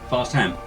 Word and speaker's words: Farsham: It's spelt Farsham, but it's pronounced Fast ham.